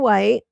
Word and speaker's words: Wytte: Her name Joan White, which is spelled YW WT, sometimes spelled white, like in the color white, and sometimes you'll see it as wyt.